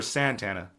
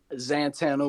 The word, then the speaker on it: Xantana: Is Zantana or Santana? Zantana with the with the X.